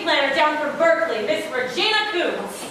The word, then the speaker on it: Regina: Oh, this is my new city planner down from Berkeley, Miss Regina Coombs. It's pronounced Regina. So was my mother's name. Sorry, ma'am. Regina.